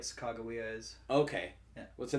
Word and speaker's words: Sacagawea: Sakaga is how you say bird, and Wea is how you say woman in Hidatsa. Sacagawea? Sakaga. But there's no G in it, is there?